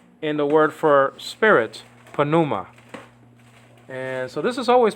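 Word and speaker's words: πνεῦμα: the word for Spirit panuma and so this is always pronounced always pronounce the p in Greek um the English words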